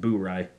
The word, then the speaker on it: Bourye: it on good authority that it is actually pronounced bury yeah uh so a blend of bourbons and